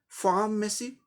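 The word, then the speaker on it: pharmacy: आर हमेशा उच्चारण किया जाता है, लेकिन थोड़ा सप्रेस करके, र की तरह, जैसे फार्मेसी, फार्मेसी, फार्मेसी, फार्मेसी, र ऐसे करके बोला है।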